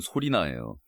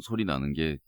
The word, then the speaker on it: 솔리나: 솔리나 스트링 아 그게요 우리나라 콩글리시 발음대로 그대로 읽으면 소리나요 제가 사실 머리 클려고